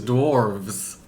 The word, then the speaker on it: dwarves: no it's the dorf but the plural is dwarves yes either way you say it or you